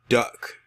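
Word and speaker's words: Duyck: This man's name is Kenneth Duck. Yes, his last name is Duck, but it's spelled D-U-Y-C-K. And this man is from Oregon, and he has admitted to having sexual contact with a horse.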